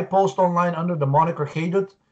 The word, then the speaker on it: Haidut: And I post online under the moniker Haidut. It's spelled H-A-I-D as in dog, U-T as in Tom.